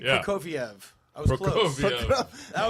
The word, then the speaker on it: Prokofiev: Prokofiev.